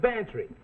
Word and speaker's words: Bantry: Bantry good spell it fatty sounds like pantry I November max will